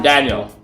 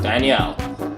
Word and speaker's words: Daniel: So yeah, I'm Daniel, not Danielle.